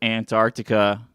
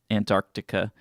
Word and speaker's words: Antarctica: You missed you only missed a C that really doesn't uh Antarctica. It's really hard to pronounce the C even in, you know, English. Antarctica. You say it like really really subtly.